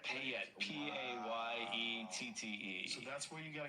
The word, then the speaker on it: Payette: Payette, Payette, So that's where you got a cabin?